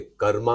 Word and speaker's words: कर्म: हालांकि यह कर्म जो है बदल के कर्मा हो गया है। इसकी वजह यह है ना कि कर्म हम तो हिंदी में कहते हैं संस्कृत से निकला हुआ शब्द है।